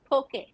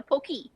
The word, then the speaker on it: poke: Waikiki is Waikiki and also poke it's poke no poke okay okay okay like the Pokemon like yeah Pokeball is